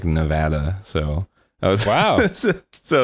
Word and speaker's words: Nevada: like, no, I mean, if you were pronouncing it like in a Spanish way, it would be like Nevada.